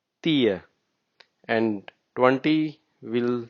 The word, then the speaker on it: tio: 10, which is written as tio, we say tia.